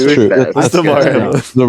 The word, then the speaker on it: Damar Hamlin: That's Damar Hamlin. The right. No. I know. I was saying. I feel like I was pronouncing his last name wrong.